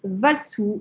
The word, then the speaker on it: Valisoa: Valsou Donc elle s'appelle, c'est Valisoa, mais se prononce Valsou.